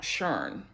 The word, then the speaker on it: Sharon: Up there her name is pronounced Shern.